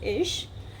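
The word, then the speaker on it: ich: will find like for example in Swiss German people call is as but in the standard German we call it as ish and for plural it's we so we call it as we ver.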